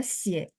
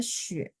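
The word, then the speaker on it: 血: Jadi darah itu bisa dibaca xie, bisa dibaca xue. Atau dia ada bacaan xue, nada 4. Ya, jadi satu huruf ini bisa baca 3. Kapan dibaca xie? Kalau darahnya adalah darah yang kelihatan fisik.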